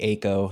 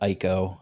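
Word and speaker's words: Eiko: It's supposed to be Ako, not Iiko.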